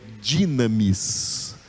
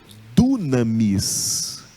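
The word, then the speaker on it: δύναμις: Eu já vi pregadores pregando dunamis. Dunamis. É errado. Esse U aí é essa letra Y aqui. E ela tem o som de I, porque ela está entre o delta e o ni, entre o D e o N. Então, entre duas consoantes, não é Y, é Y. Então, o som é de I, é dinamis e não dunamis.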